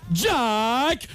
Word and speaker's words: Jack: techno parade mesdames et messieurs j'ai compris le prononcé de faire un tonnerre d'applaudissements et d'accueillir jack notre ministre de l'éducation longue bref le